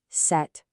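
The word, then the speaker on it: sept: Zero zero uh uh DW sunk sunk ce set. Notice the t is totally silent here.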